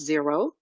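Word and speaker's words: Xero: there's another software called Zer xer o but it's pronounce zero um there's another software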